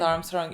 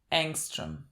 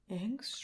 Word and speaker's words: Angstrom: fighting Armstrong where he It's not even Armstrong. We keep saying his name wrong. I just figured this out. You keep saying I keep saying you told me that his name it's not Armstrong. It's Angstrom. Angstrom. Angstrom.